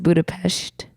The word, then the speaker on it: Budapest: Bridge it is Budapest you know it's actually pronounced Budapest the capital of Hungary not to be confused